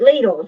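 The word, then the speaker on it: Lidl: have this yet came from Littles it's a little chopper from uh and they hate leaders is how you pronounce it American say little it's little grocery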